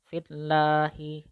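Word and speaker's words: فِي اللَّهِ: Sedangkan untuk lam jalalah yang tarqiq itu lidahnya tidak terangkat, terhampar biasa. Seperti itu. Dan tidak ada tekanan terhadap suaranya. Kemudian pada saat pengucapannya itu suara tidak terasa memenuhi mulut. Atau dengan kata lain, pengucapannya itu sama dengan pengucapan huruf lam tasdid pada lafaz-lafaz yang lain. Seperti itu. Jadi yang perlu kita ingat bahwa pengucapannya itu tipis, kemudian lidahnya itu tidak boleh terangkat, artinya lidahnya itu terhampar.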